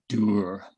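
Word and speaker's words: dour: years ago you know there's a word in english dower whereas the scots that i live amongst now pronounce it durr and uh and it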